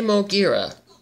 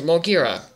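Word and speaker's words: Moguera: there's your answer hey mogira okay you did not say his name right but whatever it means mulgira why do you change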